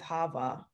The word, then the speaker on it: HAVAH: Yes, HAVAH.